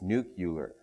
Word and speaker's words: nuclear: uh is that is the word nuclear um I don't pronounce it that way uh I add an extra U so when I say it it's nucular so if you're thinking of sending me an email afterwards noting the number of USS in the word you may but I just warn you it'll have no effect uh it it I